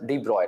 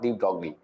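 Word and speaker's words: de Broglie: morning everyone good morning this is basically French word you know so it's pronounced as Deep Roy not deep dogly okay good morning good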